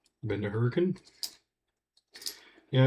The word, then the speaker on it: Hurricane: It's spelled Hurricane, but if you're from anywhere in southern Utah, you're pronouncing it Hurricane.